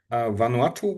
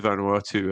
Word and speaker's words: Vanuatu: So, but let me jump forward a little bit because Vanuatu was the name, right? Do I pronounce it Yeah.